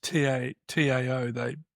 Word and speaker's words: Tao: So the word Tao, which is Tao, they pronounce their T's as a D, so we call it Taoist. If you're a Westerner, you call it Taoist, but it's not Tao, it's Tao.